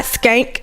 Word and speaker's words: Schenck: It's Skank. It's hard to say because it's not Skank, but it's SCHENCK.